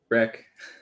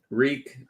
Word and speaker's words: wreak: Wreck. It's wreck. Wreck havoc. Reek would be, it would smell.